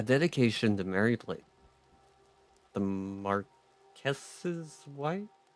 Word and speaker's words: Marquess: A dedication to Mary Blake, the Marquess's wife? How do I pronounce that? How do I say that? Marquis? I'm looking it up. Okay, it says Marquess. Okay, so that's what I'm gonna go with, I guess.